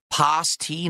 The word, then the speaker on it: pasty: The British food is pronounced pasty, not pasty.